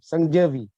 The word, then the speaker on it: Sangavi: What's the actual pronunciation of your name? Sangavi. Sangavi. Sangavi.